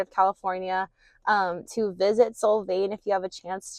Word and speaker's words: Solvang: Um, it is currently raining here in Soul Vain. I learned that that's the correct way to say it. Soul veain. Um, but I just finished up.